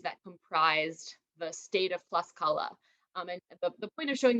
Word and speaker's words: Tlaxcala: And the word Tlaxcala, Tlaxcala is how it's pronounced today. The Nahuatl pronunciation would have been Tlaxcala, and that means actually like place of the corn tortilla.